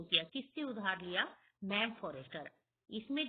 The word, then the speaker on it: Forestier: Ma'am फॉरेस्टर। इसमें जो spelling है MME, ये मैडम की शॉर्ट फॉर्म है मैम फॉरेस्टर। और स्टूडेंट, आप फॉरेस्टर की स्पेलिंग में भी थोड़ा सा ध्यान देंगे, FORESTIER।